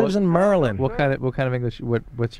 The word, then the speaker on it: Maryland: Hey, you're from Maryland. That's the first place I ever had a job, in Pikesville. And I remember the guys say, yeah, Merlin. It's like Merlin the magician. That's how you say it.